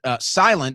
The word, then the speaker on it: SLNT: That's why I'm using and I suggest you use sent silent is actually how it's pronounced there, but slnt silent.